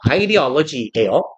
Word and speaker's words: ideology: I 어 이거 그대로 읽으면 이대올로기예요. 네. 이제 얘 발음은 아이디얼지처럼 발음해요. 아이디얼로지예요.